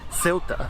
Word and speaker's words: Ceuta: the 8th century AD, this became Ceuta in Arabic, or Ceuta in Amazigh or Berber, and then became Ceuta in Portuguese, and is now of course pronounced as Ceuta by its Spanish inhabitants.